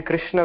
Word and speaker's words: Krishna: In Krishna, we say Krishna. Kr or Kri. Oh, it is not kra or kri. It is kr, kr.